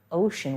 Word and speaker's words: ocean: used the word ocean ocean with that special c that makes an sh sound the ocean and here's